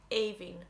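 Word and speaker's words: Aoibhinn: one spelt with i n n and it's pronounced like avin i know there's no fad on the eyes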